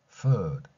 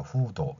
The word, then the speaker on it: food: food. 저 밖으로 발음 한 번 바람을 내뱉었습니다.